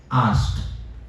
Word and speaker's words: asked: Past form ED वाला, उसको कैसे प्रोनाउंस करना है? आस्क्ड। उसमें आपको एंड में ट बोलना है। लेकिन वो भी वैसा ही थोड़ा सा साइलेंट.